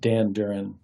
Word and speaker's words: Danduran: say your last name it's pronounced Dan Duran Dan Duran okay just like it just like it reads but I don't want